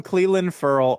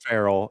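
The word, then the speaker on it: Clelin Ferrell: I don't know how to pronounce his name. I'm so sorry. You call him Cleland Furl. That's how Mike Mayock said it. Farrell, and it'll be good. We'll meet in the middle.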